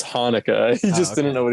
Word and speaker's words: Hanukkah: of the jewish like is that how you pronounce it in hebrew annika no it's hanukkah he just didn't know